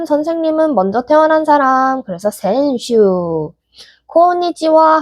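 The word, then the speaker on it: 先週: 그러면은 지난주는 뭐라고 읽을까요? 힌트는 센세와 콘슈입니다. 맞아요. 그러면 지난주는 센슈라고 읽겠죠.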